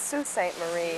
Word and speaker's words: Sault Ste. Marie: Sage Sue from Sault Ste. Marie, which was once Albion. You know where Sault Ste. Marie is? It's pronounced Sault Ste. Marie.